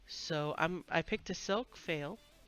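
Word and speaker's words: faille: So I picked a silk fail. I have no idea how you say it, F-A-I-L-L-E. I think it's fail.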